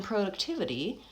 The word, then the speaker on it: productivity: And then lastly, in productivity, it's a 5-syllable word actually, and so it has secondary stress as well as primary stress.